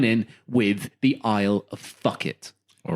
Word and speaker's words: Phuket: You might have to correct my pronunciation. We're going to Phuket. Yeah, it's fuck it.